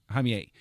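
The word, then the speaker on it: Jaime: just you know somebody tell my story which you know gives a whole you know um I think it's pronounced ha j a i m hime um the uh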